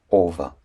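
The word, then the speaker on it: ого: en haut de haut un gueux entre deux hauts se prononce V en russe donc nous aurons pour prononciation OVA et CE de type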